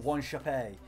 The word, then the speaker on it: Wanchope: Paulo Wanchope, or Wanchope, depending on how people wanted to pronounce it.